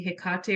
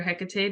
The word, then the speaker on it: Hecate: She might be a guardian for you, or maybe Hecate or Hecate, depending on the pronunciation.